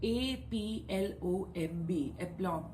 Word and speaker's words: aplomb: must be knowing it a p l o m b now the b is silent when we pronounce it so it's aplomb this means face it